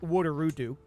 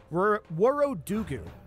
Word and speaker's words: Worodugu: This should finish significantly before he finishes sieging Worodugu. That is not how that's pronounced. Worodugu.